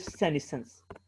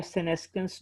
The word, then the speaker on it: senescence: next बेटा fourth term है हमारे पास, डेट इज सेनेसेंस या सेनेस्केंस, जो भी आप इसे प्रोनाउंस करना चाहें, ठीक है, हम